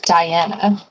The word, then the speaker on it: Dyana: dragon, who you heard her name was Diana, and that is spelled Dyana, because fantasy, was shrunk by Quinn's successful reduce spell.